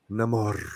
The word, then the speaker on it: Namor: It's pronounced Namor.